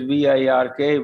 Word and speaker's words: Virk: called work dot dk in danish it is virk work in english we